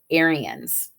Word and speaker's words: Aryan: about this group called aryans and so over here i've got phonetically spelled out air e ends um aryan and so an aryan